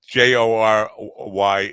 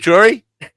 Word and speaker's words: Jory: Is it Jory? Jory with a silent J, silent O.